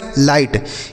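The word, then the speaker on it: light: लाइट। यहाँ पर जो जी एच रहेगा साइलेंट रहेगा, इसे नहीं पढ़ेंगे, तो यह लाइट लिखा गया है।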